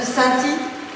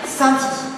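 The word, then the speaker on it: Saint-Ay: je me trompe, de Sainty. Bravo. Ah, merci. Non, parce que ça s'écrit, je vous explique, ça s'écrit AY, mais il faut dire Sainty.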